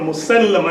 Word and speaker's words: Musaylama: That word Musaylama is actually pronounced Musaylama. And that heavy enunciation on the L or the lam makes it mean in Arabic to submit, right?